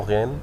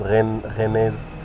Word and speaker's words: Rennes: Ils essayent de lire le mot Rennes et du coup ils lisent Rennaise parce qu'elles prononcent tout le mot.